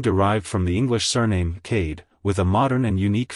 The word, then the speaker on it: Kade: To pronounce it correctly, emphasize the K sound at the beginning and the D sound at the end. Keep the vowel sound short and crisp. Like, hello Cade. Goodbye Cade.